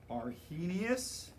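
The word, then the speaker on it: Arrhenius: these guys right here are are heinous h is silent because we have to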